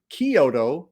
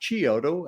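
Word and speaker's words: Chiodo: are Stephen Charles and Edward Kyoto not chioto as is often mispronounced also known as The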